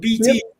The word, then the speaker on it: BT: I love BT because like her name's B. Like I pronounce it like a B and a cup of tea, so Yep. BT.